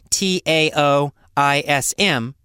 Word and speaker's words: Taoism: Now, Taoism is actually spelled with a T, Taoism, but it's pronounced Taoism like it's a D.